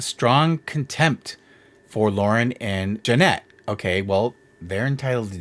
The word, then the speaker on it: Jeanette: In the videos, defendants mocked Jeanette, mispronouncing her name as Janet instead of Jeanette.